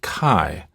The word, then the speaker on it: chi: future by the way the Greek letter that looks like an X is pronounced Kai and typically spelled like